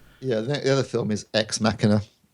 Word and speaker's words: Ex Machina: the other film is ex machina not to X mashina for those who can't pronounce it ex machina which is